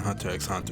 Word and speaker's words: Hunter x Hunter: 10 strongest Zodiacs in Hunter x Hunter. And yes, I say it with the X, as you should. That's the proper way to say it.